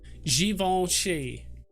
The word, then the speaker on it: Givenchy: Okay, so around 56 minutes into the Givenchy. That's how you're supposed to pronounce it, apparently.